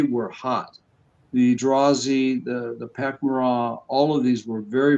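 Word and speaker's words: Pak'ma'ra: it's actually pronounced Pakmara.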